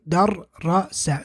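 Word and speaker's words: دَرَّسَ: And here you would say darrasa.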